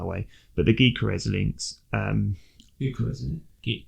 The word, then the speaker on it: Gyökeres: Gyökeres, isn't it? Gyökeres.